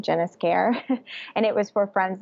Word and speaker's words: Esquer: My username was, because that's how you say my name, Jennis Care.